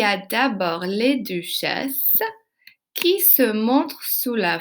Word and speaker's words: duchesses: Remarquez, j'ai pas prononcé le S. Now notice I did not pronounce that in the end. And that's because most times consonants at the end of a French word are mute.